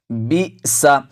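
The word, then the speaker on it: بِئْسَ: زبر سا، بی سا۔ یہیں پر لوگ غلطی کرتے ہیں کہ وہ سین کو آگے ملا دیتے ہیں۔ تو یاد رکھیے کہ سین کو ملانا نہیں ہے، سین پر زبر پڑھنی ہے بی سا، اور سین کے بعد جو الف ہے اس کو بھی نہیں پڑھنا، اور لام کے بعد جو الف ہے اس کو بھی ادا نہیں کرنا، بی سا۔ اور یہ زیر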